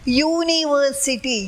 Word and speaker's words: university: It should be a because the pronunciation is university. Your pronunciation. The pronounced as university.